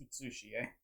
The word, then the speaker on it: Utsushi: Get an extra U there. It's Utsushi.